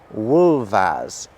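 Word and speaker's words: wulfas: they're pronounced wolf and wolvas. Do you hear how the F is making a very different sound the second time round?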